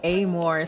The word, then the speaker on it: Amor: I say a more, so then they don't think of the more instead of, because I'm trying to change. So then I say it that way. It's phonetically the same, and then it's Amor.